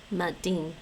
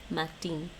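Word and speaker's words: maidin: Madin. Matin. Let's hear you say morning. Madin. Matin. Madin. Yeah, it pronounces it more like a T, I guess.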